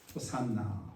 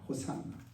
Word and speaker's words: 호산나: 호산나, 호산나. 히브리어는 호시아나, 원래는 호시아나인데, 이게 이제 불릴 때 이제 발음되는 대로 그 음역을 따라서 헬라어에서 이제 호산나 이렇게 했습니다.